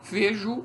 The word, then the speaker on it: vejo: Veja que esse O aqui é apenas gráfico. Na pronúncia nós temos também um U aqui, né? A gente diz vejo e não vejo.